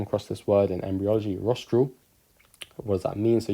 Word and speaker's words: rostral: so then rostral corner rostral rhymes with nostril so the nostril is